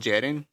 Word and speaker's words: Geddyn: It will be called Jedin, but as Spanish speakers, we call it Hedin.